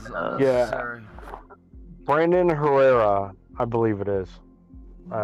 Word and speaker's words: Herrera: It's Herrera. Too many R's for us. Herrera is the proper way to say there's it.